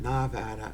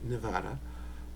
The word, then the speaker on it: Nevada: Vegas Nevada and notice it's not Navada it's Nevada that's the way the the locals say it um it's always good